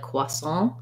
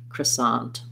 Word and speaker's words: croissant: a french pronunciation so kind of the safe neutral american way a second syllable stress ah vowel here sant croissant um yeah um and